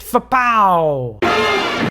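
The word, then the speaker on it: FPA0: The star of the show is the floating point accumulator number 0, pronounced FPOW!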